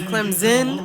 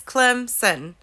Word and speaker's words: Clemson: Clemson has not so every time Jason Garrett says Clemson or Clemson we take a drink because that's not how you say it it's Clemson Clemson nosy in there so there you go